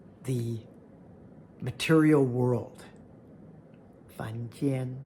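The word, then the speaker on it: 凡间: 凡间. It sounds so much like 房间, room, but this is why context, pronunciation, and tones are so important.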